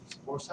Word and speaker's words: foci: Is the foci?